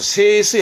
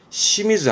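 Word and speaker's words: 清水: 그러면 청은 음독으로는 세로 가고 수는 스이 가서 세스이 할 것 같은데, 요렇게 쓰긴 쓰지만 잘 안 쓰고요. 보통은 시미즈 합니다.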